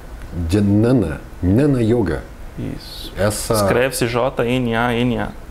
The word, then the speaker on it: Jnana: Escreve-se J-N-A-N-A. E pronuncia-se Jnana. Quase com um NH. No português.